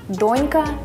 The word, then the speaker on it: донька: До речі, запам'ятай, що ці слова хоч і схожі, але наголошуються по-різному – «донька», «дочка». Лови ще одне завдання на наголос.